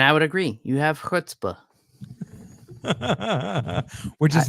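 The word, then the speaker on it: chutzpah: do um and I would agree you have hutzpah which is not spelled h o o DPA I just want it's it's spelled like chut Spa chuta yeah it's c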